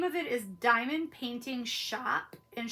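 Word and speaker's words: Shoppe: it is diamond painting shop and shop is spelled s-h-o-p-p-e and they're a company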